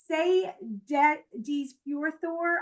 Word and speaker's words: Seyðisfjörður: Seyðisfjörður, Iceland. I know, and believe it or not, this is how you pronounce these.